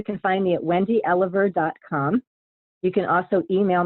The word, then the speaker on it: Elover: easy to find online my last name is pronounced Oliver but it's actually spelled E so I'm pretty easy